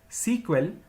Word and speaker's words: SEQUEL: initially the language was known as Structured English query language pronounced as sequel which was later changed into SQL in the year 1978.